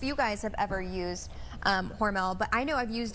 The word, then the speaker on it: Hormel: How do you pronounce it, Tia? Hormel.